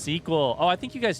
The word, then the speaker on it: SQL: It's pronounced squeal. It's pronounced suckle. It's pronounced however the freak you want. SQL. SQL. How's it actually pronounced? Tell me so that I can forget and pronounce it how I want. Oh, I got caught on the sign. It's pronounced sequel.